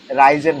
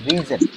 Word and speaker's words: risen: freeze, রাইস, froze, frozen, rise, rise, rose, rose, risen, risen, এই যে এই ওয়ার্ডটা রাইজেন না, এটার এই ওয়ার্ডটার উচ্চারণ হচ্ছে রিজেন।